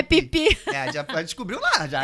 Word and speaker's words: Phi Phi: Muita gente fala Fifi, porque se escreve com PH. Mas a gente descobriu que é pipi.